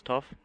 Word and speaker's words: Tuff: lot of fun and this will be like the band tough it's going to be pronounced as tough that's great and uh